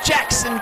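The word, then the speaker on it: Jaxson: kid Action Jackson can it's spelled j ax s o n like Jackson Chipley yeah you know you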